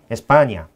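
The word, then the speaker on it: España: 그러나 아무래도 모든 발음이나 이건 영어식 발음이니까 그러니까 저희가 이제 스페인은 너무나 알려졌겠는데요. 이제 저희는 웬만하면 에스파냐.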